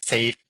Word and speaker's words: Seyf: My name is Safe, pronounced as in not dangerous but safe.